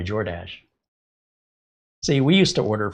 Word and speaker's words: Jordache: And I just thought, did you ever order from DoorDash? You should do it when you're wearing your Jordache. I got to do DoorDash in my Jordache.